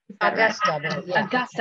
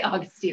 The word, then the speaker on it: Augusta: to visit is it i always get her name wrong um princess augustina augusta i always say augustine i knew i was